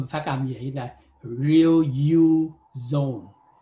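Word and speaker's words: riluzole: Cái này nó phát âm hơi lạ nha, là chỉ tách ra chữ này là real ha, còn cái này là you, phát âm riêng ra, và zone ha.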